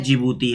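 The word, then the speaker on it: Djibouti: जिबूती है क्या है जिबूती है याद रखिएगा जिबूती में डी साइलेंट होता है ये दोस्तों यहां पर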